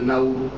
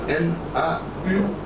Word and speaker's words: Nauru: C'est une île qui est en Océanie et qu'on appelle l'île de Nauru. Ça s'appelle, ça s'écrit N-A-U-R-U.